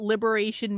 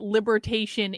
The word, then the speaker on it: liberation: Not only don't Republicans know what liberation means, they're literally pronouncing it libertation in Congress.